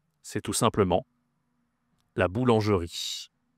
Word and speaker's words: boulangerie: C'est tout simplement la boulangerie. Attention, ici, tu as une nasale encore. Le en la boulangerie. la boulangerie.